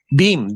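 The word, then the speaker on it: dheem: How do you spell it? Dim. Deem.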